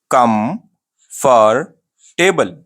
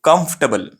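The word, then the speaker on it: comfortable: कम फॉर टेबल। ठीक है, कंफर्टेबल। अरे भाई, आपको प्रोनाउंस जब करते तो ऐसा प्रोनाउंस नहीं करते, ये रॉन्ग प्रोनाउंसिएशन है। कंफर्टेबल में है आप, बहुत कंफर्टेबल में है आप, गलत प्रोनाउंसिएशन है। क्या प्रोनाउंस करते हैं उसको? उसको बोलते हैं कंफर्टेबल।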